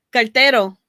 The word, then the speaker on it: cartero: Cartero. ¿Qué? Cartero. Cartero. Like car, Tero.